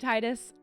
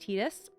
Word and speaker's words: Tidus: Um first off, one is that Tidus, I've been saying Tidus. I do believe from what I've heard that that tends to be a pretty North American or maybe Western pronunciation of the name, but that it actually is canonically pronounced Tidus.